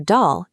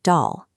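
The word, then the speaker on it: دال: For dal, keep the vowel sound flat and light at the front of your mouth, so it rhymes exactly with the English word pal. Do not say doll.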